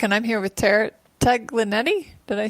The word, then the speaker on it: Taglienti: Hello, everyone, and I'm welcome back, and I'm here with Tara Taglienti. Did I say that right? It's Go ahead. Taglienti.